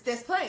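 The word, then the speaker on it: Des Plaines: It's Desplaines.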